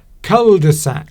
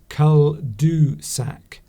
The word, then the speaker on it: cul-de-sac: Cul-de-sac. Ah. Cul-de-sac. And you're supposed to pronounce that cul-du-sac, not cul-de-sac.